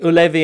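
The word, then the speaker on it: Ullevi: And in the right pronunciation, I will try. The Maracanã in Belgrade. The Parc des Princes in Paris. The Ulevi in Gothenburg.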